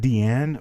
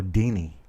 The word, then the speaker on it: Deanne: Is that Deanne or Deanie? Because I think it's Deanne. Kind of like Diane, only with a Deanne.